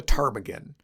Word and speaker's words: ptarmigan: So, let's take a closer look at some hair-footed Arctic birds with a silent pee, the tarmaggan.